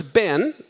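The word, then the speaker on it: בן: there's ban or bar here's Ben it's the B sound with the final noon does anyone know the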